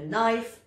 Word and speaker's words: knife: quand il est suivi du n en début de mot comme dans ce mot-là un knife un knife un couteau prodonce pas le que le C parfois en